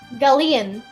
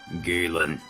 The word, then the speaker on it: Galen: Wait a minute, we've been mispronouncing it this whole time and we haven't even realized it. Galleon. No. Galen.